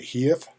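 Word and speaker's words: HEIF: format um and then i have never heard this spoken maybe i should have gone to dictionary maybe they have a pronunciation but i i'm going to call it a heave and then we have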